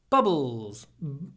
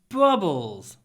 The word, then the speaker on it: bubbles: Bubbles. We do a little pause to mark the stress. With bubbles.